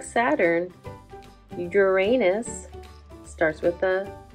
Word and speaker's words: Uranus: blue it's got rings too just like Saturn Uranus starts with a sound but we spell it with a u Uranus it's far away